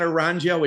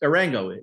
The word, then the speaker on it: Arango: like, is it really Arango? Is that what it is? And he said yes. And I think you've said that. So it's not, I thought it's not Arango. It's not Aranjo. It's Arango.